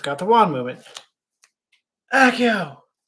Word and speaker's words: Accio: Actually, this says accio, or accio. I just say accio. Sometimes I say accio.